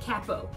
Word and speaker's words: capo: if you said capo 100% correct good yeah it's spelled c.a.p oh so some people might think to call it capo which is often times what I'll say just